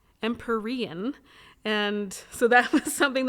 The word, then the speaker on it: Empyrean: And I actually looked at it too, and I thought, oh, it's Empyrean, like imperial, right? And it's similar, but I looked it up, and it says, oh no, correct pronunciation is Empyrean.